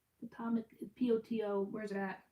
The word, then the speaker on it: Potomac: Potomac? Potomac, P-O-T-O.